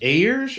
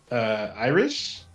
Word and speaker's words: Ayers: Next up, we have I'm probably gonna butcher the last name because it's probably pronounced one of 2 ways, but Chris Ayers or Chris Iris. Definitely not Iris.